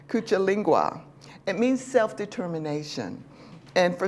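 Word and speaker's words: Kujichagulia: the second one is kuil linga I said it wrong already cucha lingua it means self-determination and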